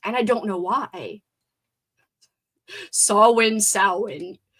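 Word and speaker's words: Samhain: Sawin or sin? So, does it matter if it's like an A or an O? How does she say it? Sawin. Sawin with an A. Why? Why was I saying it wrong all along?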